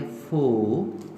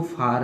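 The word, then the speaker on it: for: एफ ओ आर को हम पढ़ेंगे फो फो, इसको फार ना पढ़ें फो।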